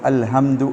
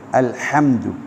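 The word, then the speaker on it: الحمد: சிலருக்கு அந்த தவறு ஏற்படுகிறது இந்த அல்ஹம்து என்ற வார்த்தையை சொல்லும்போது அல்ஹம்து என்று சாதாரணமாக சொல்வார்கள் அல்ஹம்துலில்லாஹ் அது தவறு அது அர்த்தத்தை கூட மாற்றக்கூடிய ஒரு வார்த்தை எனவே அல்ஹம்து என்று சொல்லாமல் அல்ஹம்து அல்ஹம்து என்று சொல்வார்கள் சொல்ல வேண்டும் அல்ஹம்து லில்லாஹ் ஹி இந்த ஹா வந்து அந்த ஹா அல்ல அப்ப ரெண்டு ஹாவுக்கும் இடையில வித்தியாசம் வைத்து நாங்கள் மொழிய வேண்டும் அல்ஹம்துலில்லாஹி அதேபோல ரப்பில்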